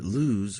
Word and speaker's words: lose: john lose his glasses remember that loose rhymes with goose and lose rhymes with whos yeah so loose right